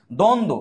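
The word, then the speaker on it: দ্বন্দ্ব: হচ্ছে এই সত্য কিন্তু বই ব নাই নাই দ্বন্দ এই দেখো দ্বন্দ এখানে কিন্তু বয় নাই ব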